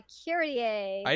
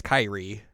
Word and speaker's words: Kyrie: name so weird yeah kir I just kept seeing it as Kyrie uh I would pronounce it Kiri because of kir alazon the song sure by Mr